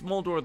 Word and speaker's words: Moldor: he keeps he's saying mold the great over and he's saying mold the great saying my name it's moldo the great but in Goblin um Lilith you're the